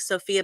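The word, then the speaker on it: Zsófia: name is spelled it's I think it's pronounced like Sophia but it's z s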